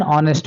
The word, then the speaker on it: honest: See for example, an honest man, an hour. ನೋಡಿ ಇಲ್ಲಿ an honest man ಅಂತ ಹೇಳಿದಾಗ h becomes silent.